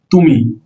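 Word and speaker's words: ты: তুমি, তুমি রাশিয়ান সেটার উচ্চারণ হলো তি।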